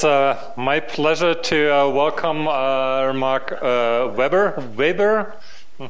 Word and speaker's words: Weber: It's my pleasure to welcome Mark Weber. Weber, how do you pronounce it? Weber. Weber, with yeah, not a B-boy, a good German pronunciation.